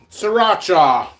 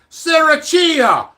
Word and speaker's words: Sriracha: I'll do a review on that too oh Sriracha I knew in Italian guy that Sissy's Italian